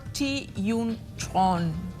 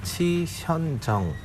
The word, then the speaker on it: Chi Hyun Chung: ¿Cómo se pronuncia exactamente su apellido? Exactamente tienen que pronunciar Chi Hyun-chon. Chi Hyun-chon. O sea, tiene que decir completo Chi Hyun.